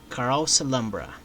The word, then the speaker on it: Carouselambra: After that also Carouselambra, that's how you pronounce this, Carouselambra.